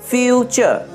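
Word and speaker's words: future: তাহলে নেচার, ফিউচার, পিকচার, এটা কিন্তু টুরে উচ্চারণ হবে না, টুরে উচ্চারণ হবে না, নেচার, ফিউচার, পিকচার।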